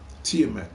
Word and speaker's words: Tiamaat: It is pronounced Tiamat.